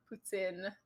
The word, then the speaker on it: poutine: So now I say poutine or poutine if you want to use the correct. But poutine.